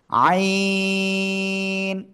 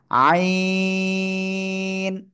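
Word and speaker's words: عين: এই অক্ষরের নাম কি আইন চার আলিফ টান গলা চেপে উচ্চারণ করতে হবে ঠিক আছে আইন সবাই জোরে জোরে জোরে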